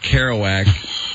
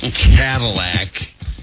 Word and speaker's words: Kerouac: Okay, he is obviously lying again, because anybody who's read Jack Kerouac knows it's not Jack Cadillac.